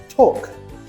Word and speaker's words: talk: Over time, speakers found it easier to drop the tongue movement for the L. For examples, calm, half, talk. Memory trick. L is lazy. No tongue movement needed.